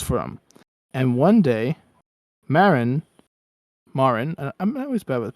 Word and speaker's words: Marin: And one day, Marin, I'm always bad with pronunciations. Marin, Marin, Marin.